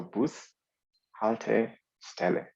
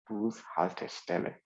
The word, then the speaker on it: Bushaltestelle: So to help you also get to pronounce the word fast enough, then just divide it into 3. And then just know that this is 3 words combined into 1.